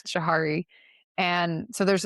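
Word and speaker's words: Johari: sense to people where I hope I'm saying Jihari right. I said it wrong and my sister-in-law had to correct me one time. I think it's Jahari.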